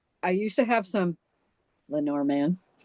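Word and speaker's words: Lenormand: the Len Lenorman. Boy, I don't even know how to say it. Lenorman. There. Lenorman.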